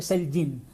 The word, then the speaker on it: Selgin: el otro día y se dice Selin. Selin es de familia italiana y tal y me estuve contando su vida y que se pronuncia, todo el mundo pronuncia mal su nombre.